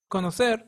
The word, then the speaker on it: conocer: state consciencia another example is conocer no ser conocer means to know the first C is followed by the vowel o and it sounds as in cup and the other sounds as